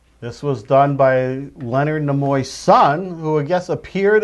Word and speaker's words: Nimoy: This was done by Leonard Nimoy's son, who I guess appeared at a Star Trek convention a few weeks ago. I believe apparently. it's Nimoy.